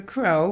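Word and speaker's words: crore: And a crow, yes, it's a crow, but it's spelled C-R-O-R-E, means a million.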